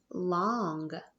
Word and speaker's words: long: A lot of people spell that with an A because la, it sounds like la, but it's not. We know ong, like in song, O-N-G, song, ong, ong, long, long.